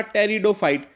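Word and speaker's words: pteridophyte: Next, सबसे छोटा टेरिडोफाइट, टेरिडोफाइट्स की स्पेलिंग में पी लिखा हुआ है लेकिन ये पी साइलेंट होता है, तो ये ना सोचे कि ये गलत लिखा हुआ है।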